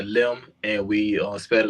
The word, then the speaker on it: Lim: it's uh it's uh it's spelled Lim so it's out on a limb and we uh spread